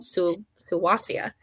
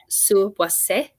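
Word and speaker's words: Suuwassea: That's not the correct pronunciation. I'm just used to saying it like that. It's from the Crow language, because where we dig is on the ancestral lands of the Crow peoples. I think it's correctly pronounced Suwase, and it means first thunder in that language.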